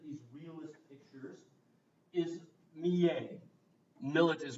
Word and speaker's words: Millet: Millet is pronounced Millet, right?